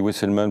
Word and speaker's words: Wesselmann: von pour Tom al moi je dis westelman parce que il est américain donc je prononce à l'américaine pardon mais vous êtes